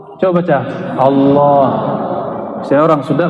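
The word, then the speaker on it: الله: Lafaz Allah, coba baca Allah. Saya orang Sunda bacanya Allah. Ya, al itu bukan dia lam ketemu lam. Allah harus disambung, bukan mati dia.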